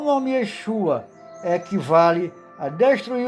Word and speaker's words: Yeshua: Pronúncia em português, Leshua. Alterou-se o nome do Salvador, de Yeshua para Jesus, para que houvesse o rompimento de todos os seus traços judaicos.